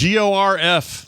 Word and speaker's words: Gorf: Gorf is Gorf, like dwarf, but Gorf. Not Gorf on golf, but nothing to do with golf.